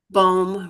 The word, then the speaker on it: Bohm: Is it Bohm? Oh, we can't hear you. Bohm rhymes with home.